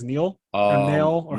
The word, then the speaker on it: Nail: Epic moment number 2 for me was when Piccolo absorbed, I think it's Neil or Nail or how do you say it? Nail.